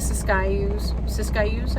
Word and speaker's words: Siskiyous: The Siskiyous, I think is how they pronounce it, between California and Oregon.